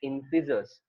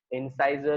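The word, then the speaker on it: incisor: देखो, सबसे आगे की तरफ जो होता है हमारे, उसको हम लोग बोलते हैं इंसिजर्स. इंसाइजर और इंसिजर दोनों प्रोनाउंसिएशन करेक्ट है, कुछ गलत नहीं है इसमें.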